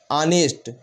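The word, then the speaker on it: honest: सकते हैं क्या लिखा हा यहां पर साइलेंट है ओ से पढ़ेंगे आनेस्ट आनेस्ट तो आर तो क्या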